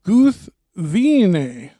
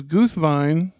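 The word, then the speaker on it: Gúthwinë: most people pronounce it guthwine but it's supposed to be what three syllables right three syllables yeah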